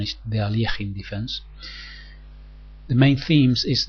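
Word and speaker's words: Alekhine: themes in the Alin defense some people say alakin defense but the correct pronunciation is the Alin defense the main themes is that um the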